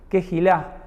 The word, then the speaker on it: Keila: Por ejemplo, el nombre Keila no es tan así como Keila, es más bien como una especie de J en el medio, como si fuera un Kejilá, y termina con una especie de acento al final.